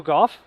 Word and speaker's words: Gough: we go Michael go yeah it's like you know in the English language there are like five ways you can pronounce o u g there's and this one is like cough with a G now hopefully you don't